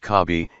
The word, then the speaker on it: CASB: cloud access security broker casb sometimes pronounced cobi is on-premises or cloud-based